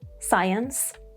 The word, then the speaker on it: science: 1, when there is SC, such as in science, discipline, scene.